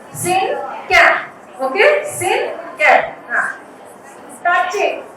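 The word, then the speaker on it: cinquain: It is pronounced as syncan.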